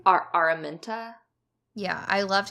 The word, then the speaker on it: Araminta: I loved how Colin and what are a Myntra is that how you say her name are Araminta yeah I loved how they were portrayed like